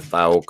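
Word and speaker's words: Fouke: Yeah, the Thauk, or I don't know. Fook. You got to say it like Conor McGregor, the fighter. Who the fuck is that guy? You got to say Fook.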